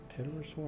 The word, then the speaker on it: Pterosaur: Pterosaur, I don't think you pronounced the P.